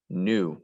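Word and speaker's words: gnu: in the african prairie new we don't hear the g at the beginning of this it sounds like the word new like something is brand new but this is actually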